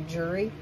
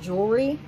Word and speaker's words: jewelry: to say some things I don't usually say jewelry correctly I usually say jury but jewelry it comes up in two